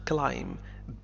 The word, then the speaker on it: climb: Climb. بي لا ينطق.